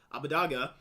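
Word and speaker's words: Abbedagge: I think that Abadaga is that's how he wants to pronounce Abadaga.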